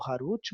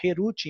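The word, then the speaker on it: חֵרוּת: Não pronuncia entalhado Harut, mas sim liberdade, Herut em hebraico, para mostrar que eles estão livres do anjo da morte.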